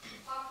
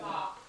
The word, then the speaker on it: bok: bok. Bok like a chicken.